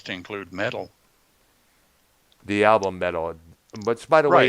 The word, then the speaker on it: Meddle: The album Metal, which by the way Right. is spelled excuse me, MEDDLE.